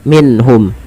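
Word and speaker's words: مِنْهُمْ: Cara membacanya itu diperjelas suara nunnya minhum dan tidak boleh pernahan minhum, tapi jelas saja. Kemudian balafal hum di sini baru izhar apa?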